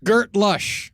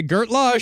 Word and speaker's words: Gert lush: When you That's not how they say it. Yeah. When you like something, you say Gert Lush.